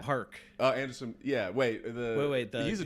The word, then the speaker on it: Paak: Is that how you say it? Anderson .Paak? Park.